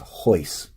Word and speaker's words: Royce: look at as an age so it's actually pronounced hoist as though it was a chai yce it's